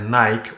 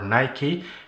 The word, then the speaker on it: Nike: In today's episode, we're going to take a look at Nike or Nike, depending on where in the world you live.